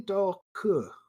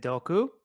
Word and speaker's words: Doku: I hope I didn't mispronounce your name because we've been mispronouncing name this whole time. It's actually Doku. Is it Doku?